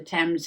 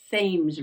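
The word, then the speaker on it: Thames: right all very proper they don't call it the temps here they call it the the fames the fames River yeah I think that's how they pronounce it in England right the temps River but here in New England Southern New England right they call it the themes River the themes River t h mes themes but it's a New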